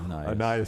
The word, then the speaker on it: Anais: Anus Smith will be there. That was one of your worst of all time. Anais Smith. Anais. God, I mispronounce that every single time.